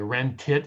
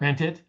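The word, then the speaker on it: wrentit: Wren tit. It's not rent it. You say that term, most people think you're asking what you're going to rent at the car agency.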